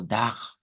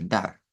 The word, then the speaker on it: dar: Yo puedo pronunciarla como dag, dag, con la con la R uvular.